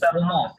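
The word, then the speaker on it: roman: আপনার নামের উচ্চারণ হবে ভ্রম।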